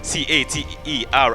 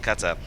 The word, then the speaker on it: cater: please take note of that Jafar Jafar you pronounce this word c a t e r as c c it is cater cater okay not CER then you said in the local levels the